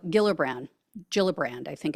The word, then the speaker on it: Gillibrand: guys saw this but Senator Kirsten g gilbran gillibrand I think it's pronounced um she said quote I thought it